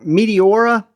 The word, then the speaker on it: Meteora: Again, you've got a reversible clip and then you've got Meteor Meteora. And the only reason I'm pronouncing it that way is it's Meteor with an A at the end, right?